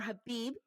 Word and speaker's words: Khabib: Khabib made it clear, or Khabib. Also, thank you to our viewers who have given me the correct pronunciation of his name.